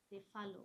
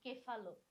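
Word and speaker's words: cephalo: সেফালো বা অনেক সময় আমরা বলি কেফালো, যে কোনো দুইটাই সঠিক উচ্চারণ তোমাদের জন্য।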